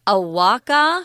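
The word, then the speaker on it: ahuacatl: they would call it Awaka? That's the pronunciation we got from the internet, so we're going to go with that, although people might tend to want to pronounce the T and the L there.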